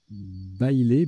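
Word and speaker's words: baile: Bailé, B-A-I-L-E, qui est un nom masculin qui se prononce bailé.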